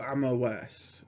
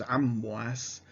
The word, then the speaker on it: Amwas: so the plague of amos or amwas and so a mouse or mos in uh greek and hebrew um likely means that the original arabic pronunciation was amwas but you do see